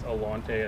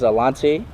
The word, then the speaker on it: Alontae: me on the tennessee athletic side it's just pronounced your name is alante i think here we've heard more alante what is the correct way to pronounce your names to get it uh everybody says it's a lottie uh that's how i say it um but